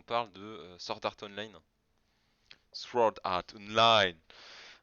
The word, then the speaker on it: Sword Art Online: Sword Art Online. Je crois qu'on prononce pas le W.